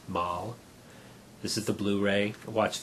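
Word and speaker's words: Malle: black mood by Louis mal i believe it's pronounced mall this is the blu-ray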